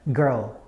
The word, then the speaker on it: girl: end of a word so you basically have two uh ending words combined together r and l rl rl and you have girl girl girl girl right those are